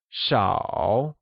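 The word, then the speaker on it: 少: high level tone while few means sha and is pronounced using a falling rising tone lastly money which translates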